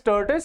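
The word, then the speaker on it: tortoise: बट अब इसको अब गलत प्रोनाउंस नहीं करना है। है ना? तो इट इज़ टर्टिस।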